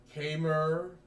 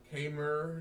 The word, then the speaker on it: Khmer: can't pronounce that name it says the k and i will struggle with it it's k-mer it's cable language so